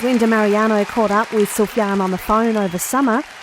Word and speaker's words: Sufjan: Well, they pronounce the J. So, sometimes they'll say it Sufjan or or I think they're just befuddled by the S and the J or or just the the foreignness of it, especially in the States.